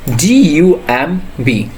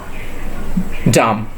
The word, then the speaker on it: dumb: The next one is DUMB. So again, like the first one, B sits after M. So B will be silent in here. So the pronunciation will be like that. Dumb.